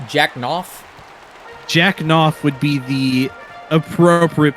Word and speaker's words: Knopf: Jack Knopf would be the appropriate pronunciation.